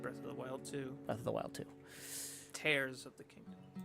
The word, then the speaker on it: Tears: tares of the Kingdom I was pronouncing it tears in Korean got madame wow she's like Dad you didn't even play those games right oh she's like she's like Dad you'd know that it's not pronounced tears right wow I didn't know